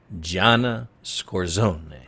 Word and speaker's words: Scorsone: I want to introduce our guest today, who is Gianna Scorsone.